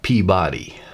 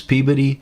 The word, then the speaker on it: Peabody: sons and Peabody Massachusetts someone unfamiliar with Massachusetts pronunciation would have wanted to call it Peabody but the locals would roast you for such a mistake it was Peabody and you better not forget it as I turned